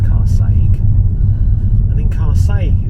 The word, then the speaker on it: Carsaig: It's pronounced Carsaig, and in Carsaig it's got a very famous phone box.